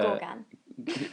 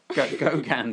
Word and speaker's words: Gauguin: Gorgan. It's pronounced Gauguin.